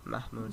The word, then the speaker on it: Mahmoud: There's no good way to pronounce that in English. No. I think it's Mahmoud. Sure, Mahmoud Abbas.